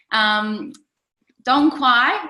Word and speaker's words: Dong Quai: Dong Quai means you don't quai no more. That's how I remember how to say it.